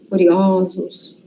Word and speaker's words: curiosos: Quando é singular, tem som fechado, né? O. E quando vai para o plural, muda a pronúncia. Vira ó. Então, ansioso, singular. Ansiosos, plural. Bondoso, bondosos. Curioso, curiosos.